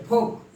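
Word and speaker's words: folk: हम एल को साइलेंट हो जाए। फोक, शूड, शूड, इसको नहीं बोलेंगे, शूड।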